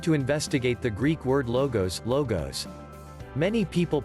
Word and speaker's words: logos: did you notice that the first syllable of logos witches law sounds like law the laws of nature